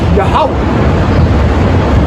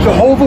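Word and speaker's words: Yahweh: say he is so when we say his name you say yahwah for example you got Jehovah Witnesses but is really yahwah's Witnesses the witnesses of yahwah the most high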